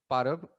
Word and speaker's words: Parab: Podcast पर mister पारब। अब मैंने आई गेस सही परब प्रोनाउंस परब परब परब परब हाँ या like it's sir. Literally like ये परब क्या होगा, it's that's what my name is.